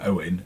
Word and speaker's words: Eoghan: Ireland too, partly because his first name Owen is spelt EOGHAN, because you know how the Irish like to mess with us.